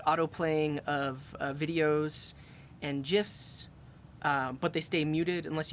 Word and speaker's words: GIFs: GIFs? Yes, with the soft G. It's the only way to pronounce it.